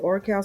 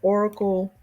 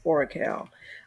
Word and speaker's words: Oracal: And I call it Oracal. Some people call it Oracle. The CAL, the teacher in me, pronounces that as Oracal.